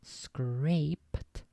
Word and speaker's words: scraped: on in the past so scraped pronounced scraped rhymed with taped caped is the past